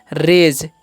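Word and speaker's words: rage: रहा है ठीक है और आर जी है तो इसे रागे नहीं पढ़ेंगे इसे हम पढ़ेंगे रेज क्योंकि जी का जो उच्चारण है यहां पर ज होगा क्यों होगा क्योंकि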